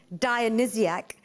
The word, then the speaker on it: Dionysiac: Greek origin dia and SCA even though it's pronounced Dionysiac it's spelt di oh and why s I